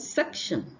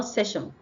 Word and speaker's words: section: cluster misconception next one is section not session section section the next one is